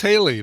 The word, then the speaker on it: Hayley: I'm sure we're not the first people ever to wonder how to pronounce it. Oh, I guarantee it. We got Oh, she's in the chat, and it's Haley.